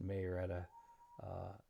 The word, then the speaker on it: Marietta: Um, our hurricane, it is what, 3:47 on Friday in where I live in Marietta, Florida, and I heard it pronounced Marietta.